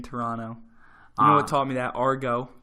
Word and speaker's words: Toronto: going to Canada Toronto you got to not pronounce the T in Toronto mama taught me that